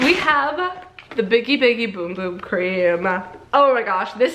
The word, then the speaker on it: Bum Bum: Portuguese there primarily and they say it's pronounced boom boom even though it looks like bum bum cream so I kind of